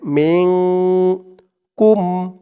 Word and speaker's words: منكم: মিং, উচ্চারণটা হবে মিং, মিন হবে না, হবে মিং কুম।